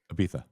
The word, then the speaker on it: Ibiza: Ibiza. You gotta say it like the Spanish people do. It's Barcelona too. So that's what Spaniards say. That's how they pronounce it.